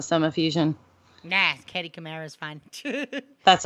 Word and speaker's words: Katie Kamara: Is it Katie Kamara? Is that how it's pronounced? Yes. Okay.